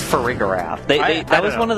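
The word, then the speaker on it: Farigiraf: I don't like that it's pronounced ferigor. It's a giraffe. Is it not pronounced frigraph? It's it's friigar.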